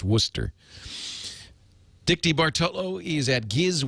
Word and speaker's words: Worcester: it up they're bubblers okay and it's not pronounced Wester it's Worcester Dicky bolo is at giz wiz.